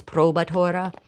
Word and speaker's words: probatura: Okay, so it's spelled provatura cheese here, but the modern pronunciation and spelling is probatura.